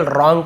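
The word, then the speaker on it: wrong: And developed रॉन्ग habits, यहाँ पे W silent letter होता है, केवल रॉन्ग पढ़ेंगे। W को लिखते हैं लेकिन इसे पढ़ते नहीं है, रॉन्ग नहीं पढ़ेंगे, रॉन्ग बस पढ़ेंगे।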